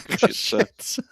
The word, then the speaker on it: Košice: But there's a place called Košice, and just outside Košice, it's how it's pronounced.